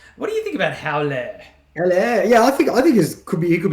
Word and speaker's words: Haller: I went and transferred in Howler. No, it's not even. Wait, how do you pronounce his name? Haller. Yeah, I got a bit of stick on Twitter for pronouncing his name incorrectly. We're saying Hauler.